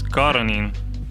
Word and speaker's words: Coronin: And actually, your last name is Coronin. Coronin. Yeah. Coronin. Exactly. And nobody can pronounce it anyway.